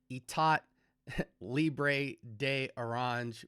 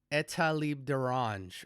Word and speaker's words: Etat Libre d'Orange: from the house of, at first I thought it was Etat Libre de Orange, but apparently it's French and it's pronounced Etat Libre d'Orange or something close to that.